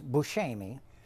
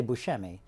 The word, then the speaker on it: Buscemi: up with that but the correct you know like Sicilian pronunciation is bullsh Amy you know and but so when people say Buscemi that's very close to how I think what the real pronunciation is so I don't usually